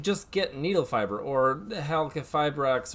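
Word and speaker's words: Halqifibrax: However, we did just get Needle Fiber, or Halcafibrax, or Halafibrax, depending on if you think that Q is silent or not.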